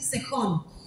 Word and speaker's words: Sehón: Sehón o Sejón, no sé cómo se nombrará, le voy a llamar Sejón, porque en algunas versiones lo escriben con J, y como somos argentinos vamos a decir Sejón.